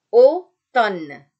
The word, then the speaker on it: automne: Nah, A ini ketika dia bertemu dengan U atau kalau dia ada di antara E dan U, maka dia terbaca O. Seperti kita melafalkan kata bodoh. Ya, dalam bahasa Indonesia. Bodoh. O. Oke. Contoh katanya automne. Bukan au. Ya, bukan au. Oke, tapi O. Jadi automne. Contoh lain, kado.